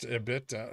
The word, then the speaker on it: EBITDA: It's pronounced EBITDA.